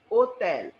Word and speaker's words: hotel: Like hotel will be called as hotel.